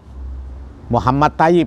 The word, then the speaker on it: Muhammad Thoyib: MP3 ejaan soewandi hai magazine ini dulu dibaca Hai Muhammad Thoyib Ini aslinya dalam bahasa Arab Muhammad Thoyib Hai biasa dipanggil Muhammad thaib Hai beliau adalah seorang pendidik